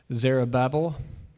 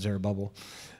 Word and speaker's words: Zerubbabel: Now, if you've heard this pronounced differently, Tell me later. Don't yell it out now, okay? We're just going to go with Zerubbabel, or I've heard Zerubbabel.